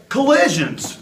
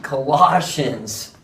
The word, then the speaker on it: Colossians: to the book of collisions collisions you need Colossians I think you've been